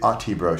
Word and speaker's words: Autibro: Do you say Oddity Bro? Like that? The Oddity Bro Show. The Oddity Bro Show.